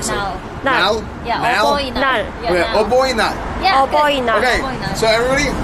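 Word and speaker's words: 어버이날: Oboinal. Agoina.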